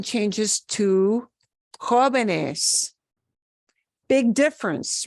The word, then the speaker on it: jóvenes: Otherwise, I'd be changing the syllable of stress to jóvenes. The base word is joven. We want to preserve where that base sound is.